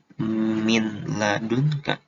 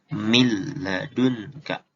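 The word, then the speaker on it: من لدنك: Nah, kalau dari huruf la bacanya bukan min ladunka, tapi mil ladunka.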